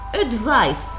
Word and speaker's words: advice: and advise the verb advice with C is the noun advise with s is the verb pronunciation the noun advice with the S sound the verb advise with the the sound okay don't forget this